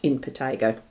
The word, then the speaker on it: impetigo: I actually did look it up to get it pronounced right, impetigo.